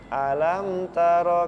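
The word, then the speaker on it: ألم تر: ada di situ ya mim sukun bertemu dengan huruf ta nah Apa hukumnya izhar izhar syafawi ahah ini dibacanya dijelaskan ya alam taro alam taro Kaifa fa'ala rabbuka biashhabil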